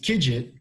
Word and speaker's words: KIGT: kids all last access videos and it's actually pronounced kidget because in the early days when we were